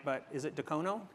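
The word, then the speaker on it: Dacono: And I'm not going to say this right, but is it Decono? Decono.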